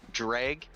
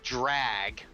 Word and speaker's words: dreg: All right, guys, you are saying the word wrong. Dreg. It's spelled D-R-E-G, not drag.